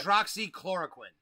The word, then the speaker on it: hydroxychloroquine: So I always have trouble pronouncing the name. Go ahead and say it. Hydroxychloroquine.